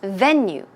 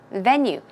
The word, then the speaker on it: venue: So venue is pronounced venue, venue. The stress goes on the first syllable.